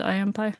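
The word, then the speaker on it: I. M. Pei: I am pie. That's actually a designer. Wait, really? It's spelled P EI. But there is a well-known Chinese architect named Impie.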